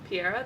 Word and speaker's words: Piera: So, in terms of this fight, I think that's where is it Piera? Yeah. Piera, that's how you say it?